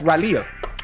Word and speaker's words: Raleigh: But it's spelled R A L E I G H. Raleigh. That's Raley.